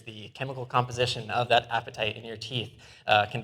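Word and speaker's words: apatite: And that spooky skeleton is made of among other things um a mineral called appetite which is funny right your teeth are called appetite it is spelled different but uh the chemical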